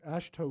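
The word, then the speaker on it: AASHTO: conform with the a a s thank you ash toe guidelines i was gonna say it wrong and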